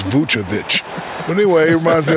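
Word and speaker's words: Vučević: and big man nicola vusavich maybe not the most athletic but shack his skill level makes him a factor well first of all they call me shakovic you said his name wrong it's vucha but anyway it reminds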